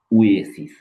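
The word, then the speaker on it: oasis: এই শব্দটা একটু মনে রাখবেন, এটার উচ্চারণ উয়া না, এটার উচ্চারণ উয়ে, উয়ে, উয়ে।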